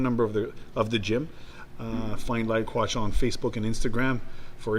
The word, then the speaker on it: Lyle Quach: Lyle Quach.